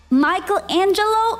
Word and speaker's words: Michelangelo: And when you're in Italia, you say it like locals. Michelangelo.